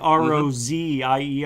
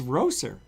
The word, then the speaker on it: Rozier: You know, a lot of people call Rozier, like Rozier or S as a Z. It's not. It's Roser.